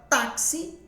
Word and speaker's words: táxi: A palavra táxi, ela é forte no tá, por isso que ela é uma paroxítona, né?